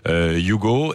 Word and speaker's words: Hugo: Ça s'écrit Hugo et ça se dit en fait Hugo.